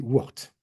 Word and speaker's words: Worth: Donc en français on dit Wart au 19e siècle. On ne va pas prononcer les noms anglais à l'anglaise.